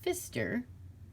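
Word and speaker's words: Pfister: see it's by marcus i believe his name's pronounced fister and look at all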